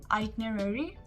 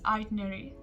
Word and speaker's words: itinerary: we say it as itinerary itinerary so it's basically pronounced the way it's spelled so it's itinerary whereas in the british pronunciation it's itinerary itinerary have you prepared